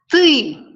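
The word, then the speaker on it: ты: now pascal knows that you in russian you can pronounce tui so uh soon let's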